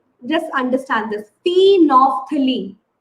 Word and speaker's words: phenolphthalein: Phenolphthalein. You won't pronounce L.